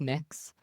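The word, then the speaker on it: Mx: were about learning not graphic sexual content it's pronounced mix mix is that you how would you like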